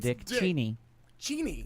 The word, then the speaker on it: Cheney: Cheney.